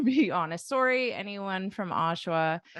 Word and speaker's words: Oshawa: little too easy but I thought for syllable stress you might put it on the end or something but and say like or like something like that but you got it Oshawa Oshawa not too bad right